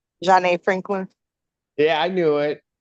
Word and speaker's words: Janae: Janae Franklin. Yeah, I knew it. But Mr. Bukovich was telling me it was Jane.